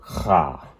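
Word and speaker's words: ח: get that right there the character ha that's how you say it you have to use the back of your throat to say that one it's the character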